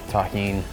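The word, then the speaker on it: tahini: Shout out to everybody that knows the deliciousness of taheen. That's how you pronounce it.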